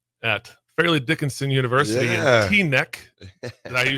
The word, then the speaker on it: Teaneck: I was at ABCD camp at Fairleigh Dickinson University in Teaneck. Did I say it right? Teaneck. Yeah, Teaneck, yeah.